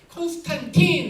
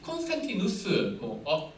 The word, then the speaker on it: 콘스탄티누스: 뭐 잠깐 역사 얘기하면 콘스탄틴 하라고 하는 이 탄틴으로 끝나는 건 어거스틴으로 끝나는 건 영어식 발음이에요. 근데 콘스탄티누스, 어거스틴도 아우구스투스로 끝나는 건 라틴식 독일 발음이에요.